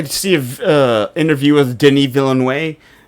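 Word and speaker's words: Denis Villeneuve: I was like, man, cuz I I see a interview with Denny Villain Way, which is actually how you say his name. I used to say Dennis Vill Noea because I've been watching like Denny Vill.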